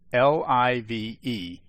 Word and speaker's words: live: Please note, I choose to pronounce the method spelled L-I-V-E as live, since it makes sense to me to think of it as the opposite of die. There are some who are adamant that the correct pronunciation is live, as in alive.